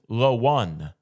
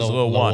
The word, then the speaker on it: LaOne: January, a son named LaOne. LaMelo's son is LaOne. What? LaOne. O-N-E, sure. like the number, but it's spelled out LaOne.